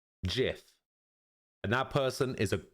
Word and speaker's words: GIF: has caused right like you either say that with a hard G or a soft G you either say GIF